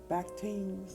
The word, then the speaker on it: bacchant: One of these is the ecstatic dance of the Bacchantes. Let me look that up, y'all. Child, I was way off on that pronunciation.